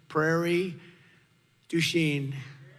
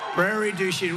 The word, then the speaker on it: Prairie du Chien: So we're here today in Prairie du Chien. Is that a good? Yeah. Good pronunciation.